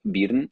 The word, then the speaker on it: Birne: Is Birn, or Burn, if you want. Burn with an I. So spell it out for For us. English speakers. Birne.